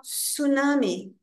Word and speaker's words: tsunami: Nós temos flood, enchente, flood, tsunami, em português tsunami, em inglês a gente não pronuncia esse T, então a palavra fica só tsunami.